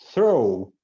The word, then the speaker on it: throw: até viu essa palavra throw throw throw ele não é pronunciado GH não é pronunciado